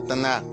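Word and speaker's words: tanah: Tanaj, con H al final, que en muchas ocasiones en el hebreo se pronuncia como J, Tanaj, que significa endechar.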